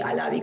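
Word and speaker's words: Halabi: es el caso Alavi, que Alavi con H, Alavi, H y B larga se escribe.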